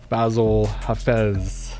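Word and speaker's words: Bassil Hafez: champion of the world basil hafez yeah you said it right all right let's go all right let's go we'll see you're the first person to pronounce my name the correct way on your own full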